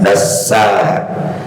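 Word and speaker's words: دسّاها: Makanya bacanya dipanjangkan, dasa. Hakikatnya ada dua sin.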